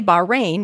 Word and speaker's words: Bahrain: city of bahrain is pronounced locally i understand with a glottal fricative in the middle the same sound is at the end of the scottish word when i say bahrain without the fricative am